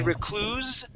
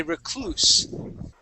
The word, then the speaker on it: recluse: With the S will be an unvoiced S. Okay, so we wouldn't say recluse. We would say recluse.